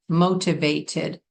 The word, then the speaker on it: motivated: And you may say motivated. It would sound good if you have an accent to pronounce those T's.